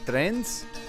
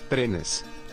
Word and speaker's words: trenes: Trens? Muchos. Trenes. Trenes. I didn't add that E sound at the end.